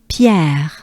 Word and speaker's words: Pierre: It's a typical French R.